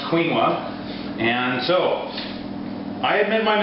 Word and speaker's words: quinoa: WordPress blog yes I did just call the Wayne quoa that's what I called it until this morning when I looked it up it's actually pronounced quinoa and so I admit my mistake but that